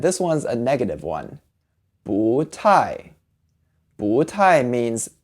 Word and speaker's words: 不: 不 by itself is said with a fourth tone. But when it's in front of another fourth tone like 太, it becomes a rising tone.